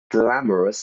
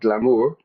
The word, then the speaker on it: glamorous: Glamorous. Listen to the pronunciation there. Not glamour.